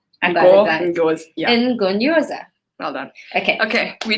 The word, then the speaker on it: Ngonyoza: NGONYOZA. I got it, guys. NGONYOZA.